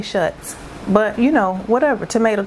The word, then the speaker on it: Schutz: Somebody told me it's pronounced shoes. And I was like, I don't know. That's not how I read it. I say Schutz.